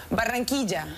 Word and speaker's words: Barranquilla: How do you say it? Barranquilla. Barranquilla. Well, hold on, you can roll it.